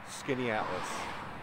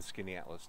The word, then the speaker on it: Skaneateles: we're here in this town we'll start with Skaneateles yes a very unique name it's actually a Native American name meaning Long Lake and there is a lake here in Skaneateles New York it's a beautiful Town one of